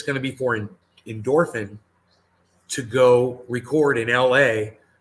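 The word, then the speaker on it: Indorphine: and it's really easy it's not endorphine it's i it's endorphin it's i n d o r p h i n e i believe there is an e at the end but it's pronounced endorphin i believe there is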